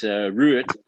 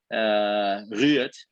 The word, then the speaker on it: Ruud: It's Ruud. Ruud. That's how they pronounce it in Dutch.